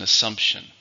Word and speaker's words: assumption: How many syllables in assumption? 3. Stress on the second.